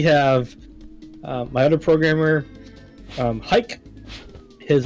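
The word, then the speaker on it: Hayk: my other programmer um hike his name is it's pronounced hike but it's h a y k right i said it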